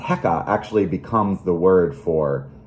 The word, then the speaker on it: heka: And they're such an important symbol, in fact, that the crook, pronounced Heka, actually becomes the word for power in ancient Egyptian, and that's how you write it in hieroglyphs.